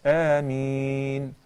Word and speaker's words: Ameen: and I mean or Ameen means oh Allah respond and we should pronounce it as a mean of course since it